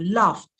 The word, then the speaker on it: laughed: for example if I use the word Loft Loft so it's not oh everyone laughed at me when I said something funny everyone laughed at me no everyone laughed at me see how the pronunciation changed changes are fluency just